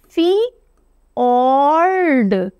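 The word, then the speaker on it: fjord: हम आते हैं फियोर्ड इसको प्रोनाउंस कैसे किया जाता है आप इसको फियोर्ड प्रोनाउंस करते हो नॉर्विन टर्म है यह फी ऑड इस तरह से इसका साउंड आएगा इस तरह से प्रोनाउंस कीजिएगा इसको फियोर्ड राइट अब फियोर्ड क्या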